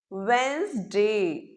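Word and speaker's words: Wednesday: वेडनेसडे जो बीच वाला डी होता है वो इसमें बिल्कुल साइलेंट होता है। इसमें तीन सिलेबल्स की आवाज नहीं आती है। केवल दो साउंड्स की आवाज इसमें आती है।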